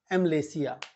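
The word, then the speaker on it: amylacea: ठीक है ना कार्पो एम लेसिया कार्पो एम लेसिया ए एम वाई एल ए सीई एम लेसिया ठीक है ना वाय साइलेंट है तो कार्पो एम लेसिया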